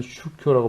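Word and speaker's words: 宗教: 다만 일본에서는 슈쿄라고 발음하고 중국에서는 쫑찌아라고 발음합니다.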